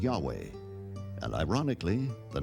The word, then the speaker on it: Yahweh: early European translators were ignorant of the correct pronunciation of Hebrew names. Many inadvertently referred to the name of God as Jehovah instead of Yahweh, and ironically, the name has stuck.